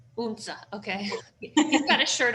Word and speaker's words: Odense: Odense. Unsa, okay.